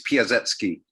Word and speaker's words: Piasecki: In Polish, the C is pronounced as an S, so it's Piasecki.